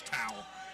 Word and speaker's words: Towell: let's make a correction it's josh towell not toe so i apologize on